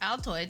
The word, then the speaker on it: Altoids: in like those little Altoids cans. That's not how it's pronounced. Altoids, yeah, it is.